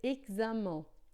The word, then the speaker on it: examen: Em francês, não, é sempre som de xi. Então, ó, aqui a gente vai dizer examen, examen.